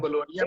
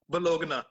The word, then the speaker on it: Bologna: For example, अब मैं बोलोनिया में हूँ ना, इसको आता है अक्सर लोग मुझे। नहीं प्रोनाउंस करते हैं, बोलोगना, ठीक है। हाँ, अब ये तो गलत है।